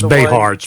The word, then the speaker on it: Behar: you know jaime from i'm pronouncing jaime's last name correct but it's bay hearts b-e-h-a-r for the people listening